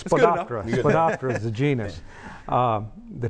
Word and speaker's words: Spodoptera: Spodoptera ornithogalli, I can't pronounce that. It's Spodoptera.